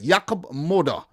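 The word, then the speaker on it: Jakub Moder: I should say it right, Jakub Moda.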